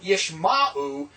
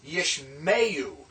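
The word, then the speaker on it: ישמעו: Yishma and you gives us yishmeyu. See, it's not yishma'u, it's yishmeyu.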